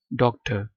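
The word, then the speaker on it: doctor: उर्दू में तो डॉक्टर ही लिखा जाता है लेकिन ब्रिटिश एक्शन में आर साइलेंट हो जाता है। डॉक्टर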